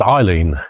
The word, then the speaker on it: Eildon: her original Scottish Heritage and actually is pronounced Eileen if we to be correct anyway um so Alden